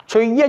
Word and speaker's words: செய்ய: செய்ய என்பதற்கு பதிலாக சொய்ய என்று எழுதுவது, ஒரு துணை எழுத்தை அதிகமாக எழுதுவது உண்டு. அது தவறுதானே? அதை செய்ய சொன்னார் என்பதே சரி. அதை செய்ய சொன்னார். சொய்ய என்று தவறுதலாக எழுதக்கூடாது, அதை அப்படி உச்சரிக்கவும் கூடாது.